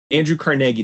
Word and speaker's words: Carnegie: really clear that's what they say andrew carnegie that's how they say it on stuff you missed in history and i trust those ladies with my life so i assume that that's how you pronounce it a book executive came